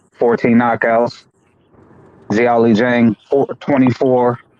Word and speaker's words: Zhilei Zhang: Okay, that's how you pronounce it. Xiaoli Zhang.